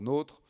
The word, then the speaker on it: NOTRe: Bon, on ne va pas se disputer, on peut enlever le E, ça se prononce toujours NOTRe ou NOTRe.